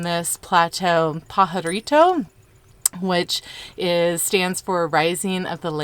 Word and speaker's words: Pajarito: They actually were originally going to name this plateau Pajarito, which stands for Rising of the Land, but they were also afraid that Anglo-Americans would not be able to pronounce the silent J in Pajarito, so that's how they decided to name it Bandelier.